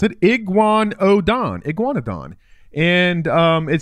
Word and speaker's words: Iguanodon: it up here yeah that's how you freaking pronounce it iguan oon Iguanodon and um it says it takes microraptor kibble